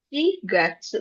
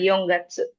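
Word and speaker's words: 四月: Ada dua cara bacanya. Ada Yong, ada Shi. Tapi kalau buat bulan, dia pakainya Shi. Shi Gatsu, bukan Yong Gatsu.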